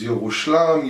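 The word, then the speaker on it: ירושלים: Day of Jerusalem, Yom Yerushalayim. Yerushalayim, the origins of the name Yerushalayim is actually very, very old. It's actually pronounced as Yirushalam, Yerushamam. There's a lot of different names there.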